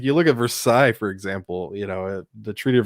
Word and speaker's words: Versailles: I didn't know what letters were like you look at Versailles, for example, the Treaty of Versailles, and it has like LLES. It's like why is it still there? Because it's Versailles.